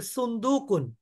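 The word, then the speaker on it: صندوق: কিন্তু আসলে আরবি শব্দ উচ্চারণটা আমরা ভুল করি কিন্তু আসলে কি হবে সুন্দুকুন সুন্দুকুন শব্দের অর্থ একটি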